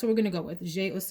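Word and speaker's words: J'ai Osé: J-Ose is how you say that.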